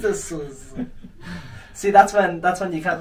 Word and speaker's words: Suhr: How do you pronounce it? Suhr.